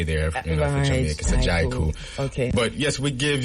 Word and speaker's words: Kabu: Tell us about Kabu. May I pronounce it right?